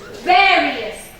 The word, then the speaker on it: various: Let's look at various. This has more than 2 syllables. Yes. Where is my suffix? I. So part of my suffix is in another syllable. So I'm going to stress the various.